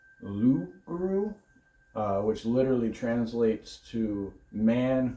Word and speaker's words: loup-garou: So, Rougarou was actually started as a French story, and it was actually pronounced Loup-garou, which literally translates to man who turns into animal.